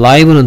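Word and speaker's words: live: 보세요 그다음에 이제 뭐 라이브는 다 아시죠 리라고 읽지 않도록 조심하세요 생방송 됐습니까 라이브 브로드캐스트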